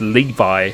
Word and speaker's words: Levi: Kept on saying Levy before, but he correctly made sure that I'm pronouncing his name right. So it's Levi who is back, and he is absolutely rapid as well.